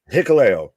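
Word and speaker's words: Hikuleo: one huko hakalo how do you say it hicko that's how you pronounce name hicko hicko Hickory sticko yeah yeah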